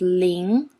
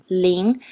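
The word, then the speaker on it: 零: the pen of it is Ling so it pronounced as Ling look at here Ling it has two versions one is this kind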